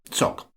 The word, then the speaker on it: tsok: on podbean okay sock the word is spelled in a variety of ways which you can see in the notes the full transliteration would be TSH h o gs but you may already know that unless you've studied the rather complicated rules connecting Tibetan pronunciation to spelling then it's probably better to stay with something simple like TS o k I'm imagining that you